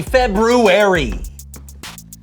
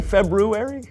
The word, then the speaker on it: February: and so show Happy February did you say February I know there's an R there but most people don't pronounce it oh well most people